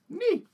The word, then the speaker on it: Nee: Whose name is Magistrate Nee. Nee. Yes, pronounced exactly thusly.